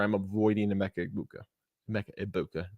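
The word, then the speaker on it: Emeka Egbuka: Mecha Ibuka, no G. I got yelled at for pronouncing the G earlier this week, so that is my bad.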